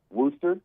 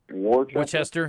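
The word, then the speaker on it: Worcester: Worster. Oh, Worster. Yes. Looks like Warchester.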